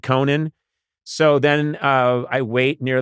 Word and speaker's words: Conan: I just said Conan. So then I wait near the thing, and then they went, Cohan. And I'm like, I just hosted the Oscars. It's Conan, and I want the Haley Bieber smoothie.